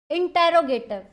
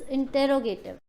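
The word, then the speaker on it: interrogative: ठीक है, next is इंटेरोगेटिव। इंटेरोगेटिव हमने किया था, देखो कई बच्चे बोलते हैं मैम इसकी प्रोनाउंसिएशन तो इंटेरोगेटिव नहीं, इट्स इंटेरोगेटिव। प्लीज प्रोनाउंसिएशन इसकी है इंटेरोगेटिव या इंटेरोगेटिव, लेकिन इंट्रोगेटिव नहीं है ये।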